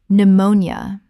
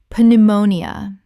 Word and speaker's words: pneumonia: n y t knight Word 179 pneumonia Common mispronunciation p-neumonia Correct pronunciation pneumonia Three syllables in natural speech. The p is completely silent and the nia collapses.